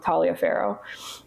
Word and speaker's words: Taliaferro: I know people pronounce this different ways, but I'm going to go with Taliaferro.